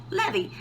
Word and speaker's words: Levi: And how do you say Levi in Spanish? Levy.